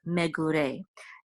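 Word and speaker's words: מְגוּרֵי: This is the trope or accent mark, which is on the last syllable, so it's megure.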